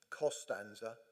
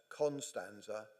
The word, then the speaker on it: Costanza: It was only when I was dealing with Dad's estate that I realised not only had one of Mum's middle names, Costanza, been spelt and pronounced Constanza, but that her maiden name